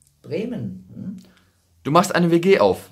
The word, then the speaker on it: Bremen: Wie wird es richtig ausgesprochen? Bremen.